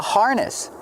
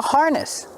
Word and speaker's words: harness: This is called a harness. Coco is wearing a harness. Harness. Pronunciation. Use the R sound like far in bar.